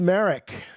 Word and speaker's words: Merrick: All right, I'm seeing in the chat that it is indeed Merrick. It's pronounced the same as the Inquisitor, but only with one R, whereas Merrick, we all know, Merrick the Inquisitor, spells his name with two R's.